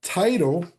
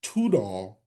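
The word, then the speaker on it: Tidal: so he's the servant of no mercy now title or it should actually be pronounced tudall and it says he's the king of nations.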